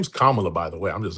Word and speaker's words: Kamala: Her name is Kamala, by By way.